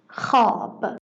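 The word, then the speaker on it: خواب: Historically, the wav was pronounced here, and this compound was pronounced something close to hua. But little by little, it is only pronounced kha, as in khab.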